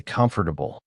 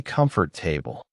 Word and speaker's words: comfortable: I remember spending three days just learning how to say comfortable because I used to say comfort table.